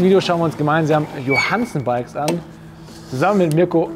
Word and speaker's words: Johansson: Wir haben ja bisher Lastenräder von Riso Müller und jetzt hat neu haben wir Johansen Bikes, so spricht man es aus, oder? Ja, Johansen. Johansen, ja. Skandinavisch so ein bisschen, ne?